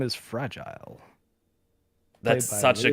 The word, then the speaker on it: fragile: Her catchphrase is, which I will, I don't know, make less sense if you don't know that the word fragile, when said in French, is pronounced fragile.